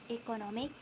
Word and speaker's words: economic: The main stress shifts to the syllable immediately before the suffix, resulting in the pronunciation economic. This shows that the adding